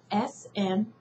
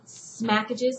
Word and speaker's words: Smackages: is spelled www dot s-m-a-c-k-a-g-e-s dot com smackages like smacking on your gum and packages like take off the p-a-c-k and have the a-g-e-s at the end smackages it's a sister it's